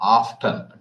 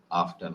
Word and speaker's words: often: do you go because sometimes americans don't pronounce the t in some words so i guess uh